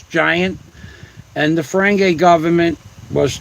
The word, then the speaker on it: Gint: Rules of acquisition were originally created by Gint, G-I-N-T, but if you pronounce it phonetically, it's giant.